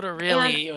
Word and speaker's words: Notarile: Is that how you say his name? it's actually Chris Notarile. And Notarile.